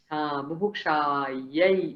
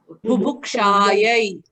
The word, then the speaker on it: बुभुक्षायै: So it's not a ye, it's a ya, yai. Buभुक्षायै. Oh, Buभुक्षायै. Bubuksha-yay. Everybody say that? Bubuksha-yay. Bubukshayai.